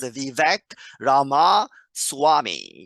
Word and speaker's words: Vivek Ramaswamy: The correct way to say his name is Vivek Ramaswamy.